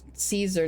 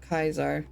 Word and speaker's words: Caesar: Joshua Graham calls him Caesar, not Kaisar, despite having been a second in command.